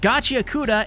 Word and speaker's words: Gachiakuta: we head back to the shack because guys, Gachauda and yes, that is actually how you pronounce it.